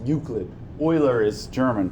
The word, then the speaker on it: Euclid: Euclid is Greek, pronounced Euclid.